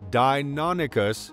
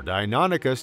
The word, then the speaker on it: Deinonychus: This remarkable creature, pronounced Deinonychus, is known for its unique features, hunting prowess, and ecological significance during the middle to late Cretaceous period in North America.